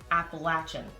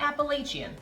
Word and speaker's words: Appalachian: the way New Yorkers this is how it's pronounced it's Appalachian not Appalachian that's right I grew up saying that it's Appalachian the Appalachian Mountains are actually running all the